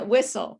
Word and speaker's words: whistle: pronounced differently is different ah whistle yeah yeah t is silent oh hi welcome to the class hi thank you nice to see you yeah whistle yeah all right so